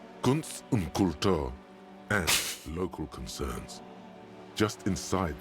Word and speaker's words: Kultur: Whereas in German, it's like exactly the other way around, you know, it's Kultur. So emphasis on the second U.